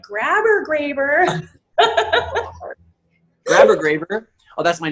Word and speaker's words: Graber: So I know it's Graber. I've known since day one. What's the most common mispronunciation of your last name? Grabber.